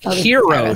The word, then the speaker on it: gyro: Yeah, a super hero shoot because it's technically pronounced hero, so you can be a new superhero.